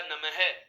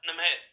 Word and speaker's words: नमः: जैसे हम बात करें दोस्तों, मैं आपके सामने एक शब्द लिख रहा हूं, आप इसका उच्चारण क्या करेंगे, आप इस शब्द को क्या पढ़ेंगे, आपके दिमाग में बिल्कुल आंसर आ रहा है, ये बोला जाएगा नमः।